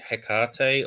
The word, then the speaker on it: Hekate: yeah so I mean I say hekar or gen generally sort of something that it similar intonation